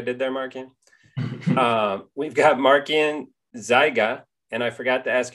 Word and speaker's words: Markian Zyga: see what i did there marking we've got markian zyga and i forgot to ask you how to pronounce your last name you actually pronounced it